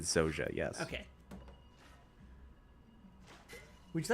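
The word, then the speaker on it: Zojja: Also, I keep pronouncing it Zaja. It's Zoja? I believe they pronounce it Zoja, yes.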